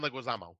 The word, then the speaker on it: Leguizamo: he was recently in the menu oh John Leguizamo thank you he's great unfortunately he's not in